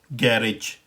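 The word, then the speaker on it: garage: तो इस वर्ड को हम ब्रिटिश इंग्लिश में प्रोनाउंस करते हैं गैरेज।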